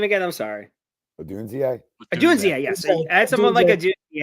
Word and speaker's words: Odunze: Odunze, yes.